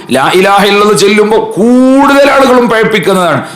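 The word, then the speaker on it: لا إله إلا الله: അറഹ്മാനിയും ഹാവും അതിന്റെ ഉച്ചാരണങ്ങളും ലാ ഇലാഹ ഇല്ലല്ലാഹ് ചൊല്ലുമ്പോൾ കൂടുതൽ ആളുകളും പിഴപ്പിക്കുന്നതാണ് ലാ ഇലാഹ ഇല്ലല്ലാഹു ലാ ഇലാഹ ഇല്ലല്ലാഹ് ഇല്ലല്ലാഹ് ഇല്ലല്ലാഹ് ഇങ്ങനെ അലിഫും ഹാവും ഇല്ലാതെ ഇല്ലല്ലാഹ് ഇല്ലല്ലാഹ് എന്ന് പറഞ്ഞിട്ട് പിഴപ്പിക്കുന്നവരുണ്ട് പിഴവായ രൂപത്തിൽ നമ്മൾ അത്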